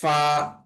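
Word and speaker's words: ف: তারপর ফা ফা ফা এর উচ্চারণটা হবে নিচের ঠোটের পেট উপরের দাঁতের আগার সঙ্গে লাগাইয়া।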